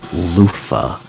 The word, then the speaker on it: Luffy: Say it like the word loofah, right? It's Loofah. Monkey D.